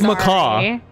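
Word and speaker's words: Maccas: I pronouncing it wrong how dare you say maca's wrong how do you say it it's macaw it's macaw like the bird the cow is like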